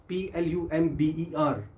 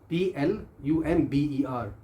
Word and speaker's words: plumber: The word is PLUMBER। दोबारा सुनिए, PLUMBER। Word है प्लम्बर। प्लम्बर, प्लम्बर नहीं है ये। बी को जहाँ हमने साइलेंट करना हम उस पर स्ट्रेस कर देते हैं।